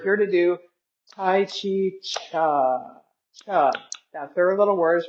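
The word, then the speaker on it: Chih: And we're here to do Tai Chi Cha Cha. That little word is pronounced cha like chuck wagons.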